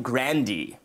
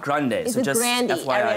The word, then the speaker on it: Grande: Ariana's brother what and you pronounce the last name grandi it's not Grande's Andy it's Brandi and then the scandal